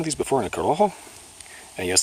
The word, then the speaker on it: Corojo: Anyway, whatever the case, I've had one of these before in a Corojo. And yes, that is pronounced Corojo, not Corojo, gringo.